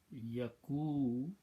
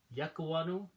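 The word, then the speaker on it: يَكُونُ: this word will become yakunu. Ya Yakunu. See how it is to pronounce now? Yakwanu, yakunu. Easy on tongue and looks polite.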